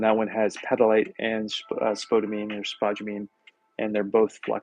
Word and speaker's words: spodumene: This particular glaze that we're talking about has spodumene in it, or spodumene, I guess is the right pronunciation, which is a lithium-based flux, which means that it's expensive at this point.